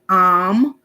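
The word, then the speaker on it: Aum: And it can be pronounced Om, O-M, Am, A-U-M, Amen, A-M-E-N, or Amun, A-M-U-N. And it is not heard with the ears.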